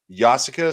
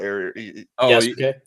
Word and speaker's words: Yasuke: I want to play Yasuka Simulator. I think I said that right. Yasuke.